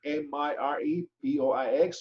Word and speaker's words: mirepoix: The basic ingredients in these stocks are bones, vegetable mixture known as mirepoix, M-I-R-E-P-O-I-X, pronounced mirepoix.